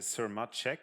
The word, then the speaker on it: Sirmacek: dr beryl i have to read the story sir machek i hope i pronounced it well from the yucapang university in